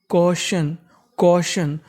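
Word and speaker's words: caution: हैं इस मीनिंग के आखरी में लिखा है टी आई यू एन उसे पढ़ना है शन और शुरुआत में लिखा है एयू मैंने बताया कि ए यू को क्या पढ़ते हैं ओ तो मीनिंग बनेगी क्वेशन क्शन का मतलब होता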